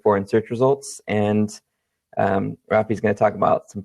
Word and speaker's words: Rafi: Today we are hanging out with Rafi. Is that how you pronounce it? That's correct.